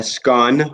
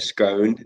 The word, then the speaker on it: scone: and it's a cup of tea with a scone or a scone, depending on how you pronounce it, with jam and clotted cream on top of So it, and good.